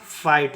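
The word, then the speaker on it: fight: तो हो जाएगा फाइ और जी एच साइलेंट होगा टी का उच्चारण होगा ट इसको पढ़ेंगे फाइट इसको पढ़ेंगे फाइट ठीक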